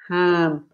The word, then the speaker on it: jamón: Ham with an H, very soft. That's like he's saying it. Ham. Do not use your throat to pronounce this sound.